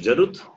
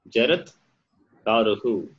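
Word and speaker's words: Jaratkāru: It is Jarut. Jaratkaru. Yeah. Jarat Karuhu. Jarat Karuhu. Okay.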